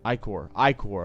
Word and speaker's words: ichor: Ichor. That's how you pronounce it.